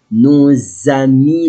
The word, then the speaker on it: nos amis: Nos amis les bêtes. Nos amis les bêtes. Our friends animals. Nos. Why? Because S and the vowel.